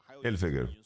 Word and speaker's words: Hilfiger: So, it's finger without the end. Hilfiger.